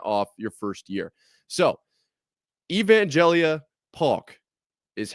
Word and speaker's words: Evangelia Paulk: So, Evangelia Paw is how is said it is pronounced.